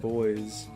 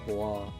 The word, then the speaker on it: Bois: Yeah, I could call it Boys. But it's... Look... this takes place in France. It's definitely supposed to be pronounced Bois.